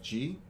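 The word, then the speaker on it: Ghee: my name is g my last name is spelled g-h-e-e pronounced g i am the head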